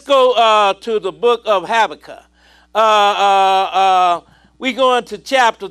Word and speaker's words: Habakkuk: issues styrene at at Habakkuk chapter 3 some pronounce it Ibaka Habakkuk Ibaka you get